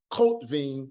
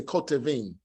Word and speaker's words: kotevim: So instead of saying kotvim, we say kotevim.